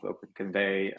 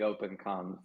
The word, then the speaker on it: OpenConvAI: You can say it a few ways. Open comm open convey. The way we imagine is convey like you're conveying something. But you could also pronounce it the other way. That was my English coming through that. No, you're good. A lot of people say open con.